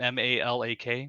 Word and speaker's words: Malak: malach is her name m-a-l-a-k right e-r-i Malak or Malik however you want to pronounce it is a which is